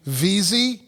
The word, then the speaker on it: Veazie: And is and correct pronunciation, VZY.